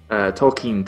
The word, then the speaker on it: Tolkien: How do you say it? Tolkien, technically, but Tolkien, regardless.